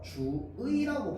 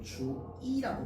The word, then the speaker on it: 주의: 자, 그래서요, 단어의 첫 음절 이외의 의는 어떻게 발음하느냐? 원래 의로 발음하는 게 원칙이야. 원칙인데요, 이로 발음하는 것도 허용합니다. 그래서 얘는요, 주의라고 발음해도 되고 주이라고 발음해도 됩니다.